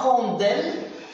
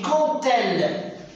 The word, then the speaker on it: quand elle: Mais on ne dit pas, faites attention, on ne dit pas quand elle. Le D ici va se prononcer T. On dit quand elle.